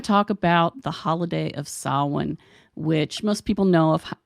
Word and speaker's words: Samhain: about the holiday of salwan which most people know of as Halloween and no I know it's it's spelled like Sam Hayne it is not Sam Hayne so what are you